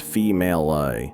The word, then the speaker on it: Female: Paul lives alone with only his housekeeper, female, pronounced female-I, to look after him.